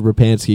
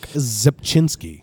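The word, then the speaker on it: Rzepczynski: I've always just said Rapansky because I didn't have a prayer of pronouncing that correctly. Mark Zepchinski. Mark Zepchinski, okay. The C is silent. The R is silent too, right?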